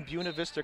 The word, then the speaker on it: Buena Vista: I was just going to say, it reads like Buena Vista, right? But that is how they pronounce it, as if it were B-Y-O-O-N-A.